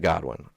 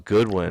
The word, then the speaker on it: Godwin: and then you got Godwin to me God one's on oh I thought it was Goodwin oh no Godwin's Buccaneers oh I just butchered